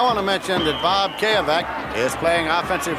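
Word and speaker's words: Cayavec: They said it hadn't been pronounced correctly too many times. Bob Kayavec is the right tackle for Alabama.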